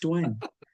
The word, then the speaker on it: Dwayne: It's not Dwan, right? It's just Dwayne.